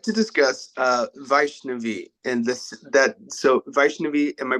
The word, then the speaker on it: Vaishnavi: I would like to discuss Vaishnavi and so Vaishnavi, am I pronouncing that correctly?